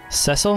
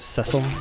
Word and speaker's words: Cecil: Cecil? I think that's how you say it. Cecil. Or as I probably used to say it, Cecile.